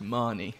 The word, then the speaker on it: Mahoney: It's Mahoney. Mahoney. That's good, because there was a boy at my primary school who pronounced it the same way, but I've heard it like Mahoney.